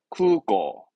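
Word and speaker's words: 空港: 발음은 쿠고.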